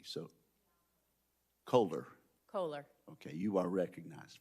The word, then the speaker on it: Kohler: witness I bet likes to have her name pronounced correctly so colder colder okay you are recognized for five minutes Thank You chairman wicker ranking member Cantwell and members of the committee my name is Kohler and I'm a professor of law and the